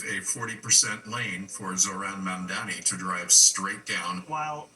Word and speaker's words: Mamdani: Some have noticed that Cuomo continues to mispronounce Mamdani's name, calling him Mandani.